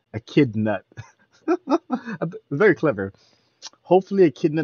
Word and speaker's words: Echidnut: me i was like how do you pronounce that nut chit donut i was like but now i get it it's like a kid nuh a kid nut very clever hopefully a